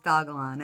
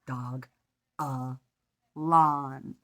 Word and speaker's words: Dogalon: it is dogalon mars it is not dojol on mars it is dogalon and the only reason i do know that is because i went and i read and it says how you pronounce it dog uh lawn for all my favorite